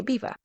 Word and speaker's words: Belvoir: near a place called Beaver Castle. At least that's how you pronounce it, but it's spelled as if it's Belvoir Castle. Um, but people say Beaver.